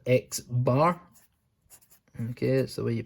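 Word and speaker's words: x̄: it's that we line on it said it's pronounced x-bar and it means the mean and the last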